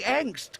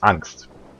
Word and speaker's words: Angst: By the way, angst, it's funny that it's a word in English because it's a German word and it means fear. And it's pronounced Angst, not angst.